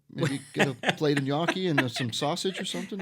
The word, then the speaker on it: gnocchi: And you even say it correctly, gnocchi. It's not ganocchilis.